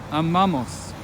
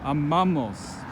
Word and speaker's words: amamos: Amamos. We love. Again, the stress falls on the second to last syllable. Amamos.